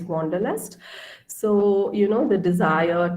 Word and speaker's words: Wanderlust: Yeah, and this word Wanderlust, in German it's pronounced as Wanderlust, okay? So we, in English, we say it's Wanderlust.